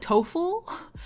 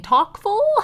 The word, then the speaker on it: TOCFL: And you can guess that the E in TOEFL stands for English and the C in TOEFL, is how you say it, stands for Chinese.